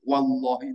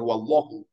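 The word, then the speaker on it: والله: itu mesti setelah Billahi wallahi Itu haknya itu lafat Allahnya itu dikasrahkan dihofankan wallahi bacanya begitu tidak boleh wallahu kalau wallahu lain artinya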